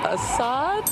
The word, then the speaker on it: Assad: Rhymes with Mashad. I don't know. Assad?